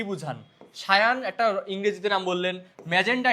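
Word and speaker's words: cyan: সায়ান মানে এটার হচ্ছে উচ্চারণটা হচ্ছে সায়ান।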